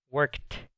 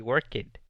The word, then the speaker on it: worked: He worked. Suena como una T. No lo pronuncio he worked. Eso es incorrecto.